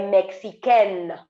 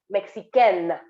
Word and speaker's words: mexicaine: Tona est mexicaine. Do you see the difference? Mexicain, Mexicaine, Mexicain, Mexicaine. Mexicain is for masculine, Mexicaine is for feminine.